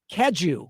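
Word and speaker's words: Cadieux: Kadu.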